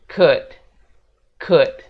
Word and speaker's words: could: bukan bilang C tapi kita bilangnya Could could gitu jadi l-nya enggak dibaca atau mungkin kata yang ini